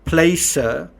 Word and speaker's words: Placer: know I've been saying it's Placer and you kind of think about that word you know find the right place I know it is Placer but find the right place so you I've been mispronouncing it but the other thing